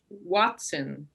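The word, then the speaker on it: hoatzin: So this is pronounced Watson.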